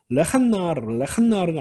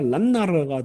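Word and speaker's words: לַנַּעַר: 레한나르가 아니라 란나르가 되는 겁니다.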